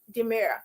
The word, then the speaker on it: D'Mur: Demira.